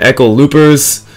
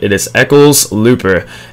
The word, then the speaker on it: Eccles-Looper: I was saying Eccles-Loopers, I was saying it all, but I think I've just about got it. It is Eccles-Looper, and a dangerous pass there, probably should have been intercepted.